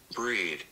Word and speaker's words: Brede: bredo how do you pronounce that how to pronounce c-r-e-d-e let's listen breed breed great so this is rumor Gardens in